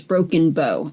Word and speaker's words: Broken Bow: the show title was broken bow it's not bow like in bow of the ship it's more like a bow like a bow and arrow so it's broken bow and i just wanted